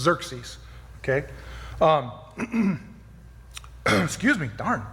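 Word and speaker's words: Xerxes: say that it's not Kirk geeks today axis is actually pronounced as a Z so it's Dirk C's okay mm-hmm excuse me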